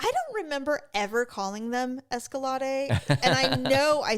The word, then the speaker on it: Escalade: Anyway, so the reason I said I I almost wouldn't mind an escalad. Escalad. Escalade. But I called them escalades. Now, here's the thing. I don't remember ever calling them escalade.